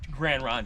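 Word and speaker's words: Grande Ronde: down ways it's still they call it it's gran ron takes over okay what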